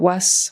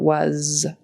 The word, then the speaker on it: was: And then again, at the end of was, it should be a Z sound instead of S. We don't want was, we want was.